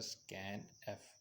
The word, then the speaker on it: scanf: इसको प्रोनाउंस किया जाता है स्कैन एफ, यानी स्कैन लिख के ई के साथ डबल एफ।